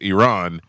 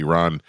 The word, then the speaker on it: Iran: We call it Iran. Iran. Yeah, it's Iran. And we pronounce it the way we pronounce words, right? Like it's spelled that way for us.